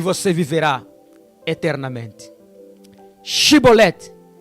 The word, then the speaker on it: Chibolete: Shibolete, o código da vida. Era esta palavra que os efraimitas não conseguiram pronunciar. Eles apenas diziam Sibolete.